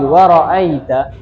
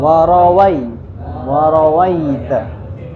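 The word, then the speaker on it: وَرَأَيْتَ: Baik, perhatikan di wa ra'aita. A-nya harus dibaca jelas ya. Wa ra'a. Jangan sampai dia diganti menjadi waw. Wa rawaita.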